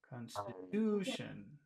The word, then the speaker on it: constitution: all the power Constitution constitution in the last Constitution so it's Constitution Constitution con oh no Con in the second one Constitution it's it's con stitution poor poor David it's